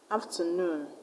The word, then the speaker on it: afternoon: OON, like cartoon, afternoon, teaspoon. This stress ending OON. So we're going to stress on the last level. In cartoon, you're going to stress tune. In afternoon, you're going to stress noon.